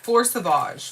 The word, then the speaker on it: Fleur Sauvage: Fleur Sauvage or Fleur Savage? Fleur Sauvage. Fleur Sauvage. Because it's spelled Sauvage.